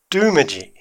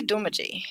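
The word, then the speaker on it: Doomadgee: do you know about du Midi what I know is that everybody else pronounces it du Midi but it's actually de mogi don't wincing de mogi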